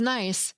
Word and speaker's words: Nice: And lastly, the weather was nice in Nice, France.